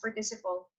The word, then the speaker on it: participle: The base form or the past participle? I don't know how to say it. Participle. It's like participate, but then you have to replace it with PLE.